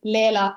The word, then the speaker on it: Leela: Because in Estonia we pronounce every letter as we see. So we would say Leela in Estonia.